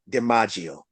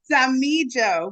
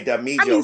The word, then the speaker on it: Damijo: Without further ado, Denise Damijo. Did I say it right? No, Damijo, but that is quite okay. Okay, Damijo.